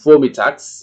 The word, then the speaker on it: vormittags: Dalam mengucapkan sebisa mungkin diucapkan S-nya, kedengaran, vormittags, ya.